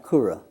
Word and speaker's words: Koura: that correct for now uh last name yes pronounced kura and is art a nickname or is that